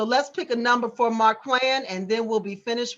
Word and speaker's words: Marquan: M-A-R, Mar, Q-U-A-N, Quan. I want to pronounce his name right. I know. Quan. Oh, Quan. Marquand.